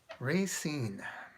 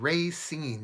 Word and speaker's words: Racine: was called it Racine some people gave Racine they really emphasized a long a and then they they kind of put equal emphasis on both ray and seen Racine so I want to